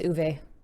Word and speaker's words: Uwe: double checking everything because we got Uwe wrong. Uwe. Mm-hmm. It's Uwe.